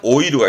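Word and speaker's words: 老いる: 이거 말고 많이 나왔던 건 오래된 점포 노포 발음은 로호보다는 신이세로 기억해 두시고요. 다음에 늙다 노쇠한 오이루가 있었고 오이루, 나이 먹게 보이는 후게루도 체크해 두시고요.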